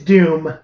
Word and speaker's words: Dume: on batch and and it's Doom do May it's it's Dume it's Doom d-u-m-e no it's okay I